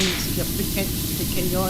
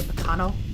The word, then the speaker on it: pequeño: It's only enough to mildly annoy my sister when I purposely mispronounce certain words. It's me, pequeño, and I sort of say pecano.